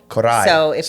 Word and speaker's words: Coray: like record yeah absolutely Kai corai you have to Trill the r a little bit so if you don't roll the r then it's just cor I corai okay but if you